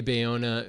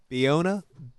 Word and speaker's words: Bayona: Bayona, who has been the first I had ever